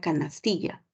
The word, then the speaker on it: canastilla: polisilabilíticas no por ejemplo la palabra canastilla tú ubicas la mayor fuerza de voz en la en la penúltima sílaba no en la penúltima